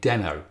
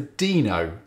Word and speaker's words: Deno: i started calling it deno and so did ryan dahl in his early videos but most people seem to opt for dino and that's possibly because it's spelt the same as reno in nevada or because its logo